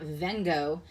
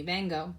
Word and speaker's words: vengo: And our V's, they get pronounced as a soft B, so it's not vengo, it's bango. It sounds like it's bango, but it's not a hard B either. It's a soft B, bango.